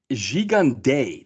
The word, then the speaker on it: Gigandet: So I discovered his name is pronounced. It's Cam Gigandet. That's how, but we can call him Gigandet.